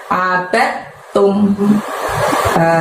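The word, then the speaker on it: عَبَدْتُمْ: Lalu ditutup dengan lafaz abad tum. Di situ buka abadnya itu bukan kol-kolah ya, jadi tidak perlu dimantulkan, tapi masukkan ke huruf ta.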